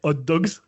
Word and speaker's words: Hot Dogz: Je le prononce bien, Hot Dogs. Ouais, exactement. Ça reste Avec pas trop un compliqué. Z à la fin.